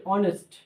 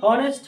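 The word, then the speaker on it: honest: যেমন আমি বলি অনেস্ট, তাহলে হবে অ্যান অনেস্ট। কি হবে? অ্যান অনেস্ট। এই তো উচ্চারণ নাই, এর উচ্চারণ যদি হনেস্ট হইতো তাহলে কিন্তু এ হইতো, কিন্তু এই অনেস্টের ক্ষেত্রে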